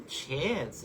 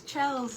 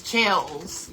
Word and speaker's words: Chelz: It's Chels like it's Chels. Yeah. Like Chelsea. Yeah. Chels. Like Chels with a Z on it.